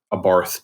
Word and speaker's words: Abarth: specifically with the the abarth did i say it right i've been corrected 80 different times it's ab art the h does not exist bob art um but i think in